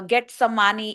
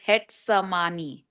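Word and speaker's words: Getsemaní: And the same for uh get sani it's pronounced as het samani.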